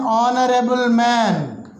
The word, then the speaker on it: honorable: r so here and is used h though it is a consonant it produces a vowel sound therefore n r so like this you can take an r number of words we can read out an honorable man ah honorable man honorable man an honest man